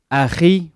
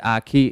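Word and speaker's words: أخي: You're supposed to say it Aki, but because that letter is not in English, it's pronounced as Aki in English.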